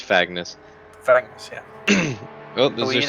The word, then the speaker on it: Fagnes: Fagans. Well, it'd be like, yeah, it'd be like Agnes with an F in front of it, so Fagnes. Fagnes.